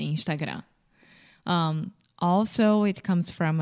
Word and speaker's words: Instagram: well I think that with the final m in Portuguese we don't close our mouth so we say Instagram without closing the mouth right we are smiling when we say Instagram um also it comes